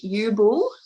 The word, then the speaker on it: Ubl: czech man and um so ubul is uh how we say it and i've been spelling